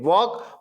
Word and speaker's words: walk: WALK. इसको क्या पढ़ते? वाल्क पढ़ते कि वॉक पढ़ते? क्या पढ़ते? वॉक. मतलब इसमें साइलेंट लेटर कौन सा है? L. इसमें साइलेंट क्या है? L.